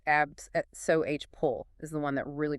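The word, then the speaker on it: abscopal: The abscapole effect that's pronounced abs pull is the one that really grabs attention.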